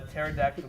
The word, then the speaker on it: pterodactyl: what'd you get what why can't you hear a pterodactyl go to the bathroom because the P is silent what's your call so